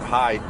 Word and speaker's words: Hyde: the little clue about Hyde being an appropriate name because it's h yde but it also is uh it rhymes with the word hide to hide like a cash and